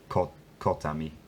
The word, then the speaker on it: kotami: this case, so dębami, kotami, kotami. Poza kotami. Kotami. So it does the same three-syllable thing where the stress jumps to the middle syllable.